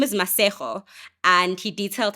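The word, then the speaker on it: Masego: And his name is Masejo. And he detailed how when he was growing up in school, teachers and students would have an issue pronouncing Masejo. They would say Masigo.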